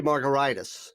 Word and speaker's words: Margaritis: name is spelled m-a-r-g-a-r-i-t-i-s it's pronounced like a cocktail but it's spelled like an inflammation yeah it should be margaritas which is hepatitis gingivitis